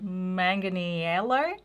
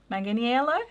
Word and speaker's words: Manganiello: Joe Magic Mike aka Joe Manganello. Manganiello, right? That's how you say it.